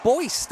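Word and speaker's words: Buist: Tristan Boyist, I think we'll pronounce that. B U I S T.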